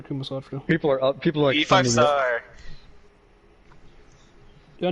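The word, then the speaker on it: Kama Sutra: People are reading the updated versions for the Kumasatra.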